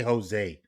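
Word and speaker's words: José: you not say Jose think about it phonetically if you can say hose like the garden hose and you can say hey just take away the H and say hose hey like how is it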